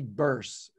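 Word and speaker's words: Beirse: gone live yet but his name is Jamie burse but it spelled like hearse with a B so Jamie B ei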